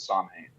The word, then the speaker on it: Samhain: But there's also a connection to Samhain, or some people pronounce it Samhain, and that's a very explicitly pagan festival that